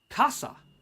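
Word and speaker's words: 笠: a casa in Japanese which is the exact same pronunciation as the word for umbrella parasol but it's this hat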